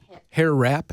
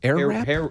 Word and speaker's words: Airwrap: Am I saying it right? Hair blower or is it Hair wrap? Air wrap? air wrap?